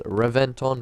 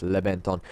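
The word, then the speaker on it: Reventón: Now, I know this thing might seem like it's meant to be pronounced as Reventon, but apparently by Lamborghini it's Reventon.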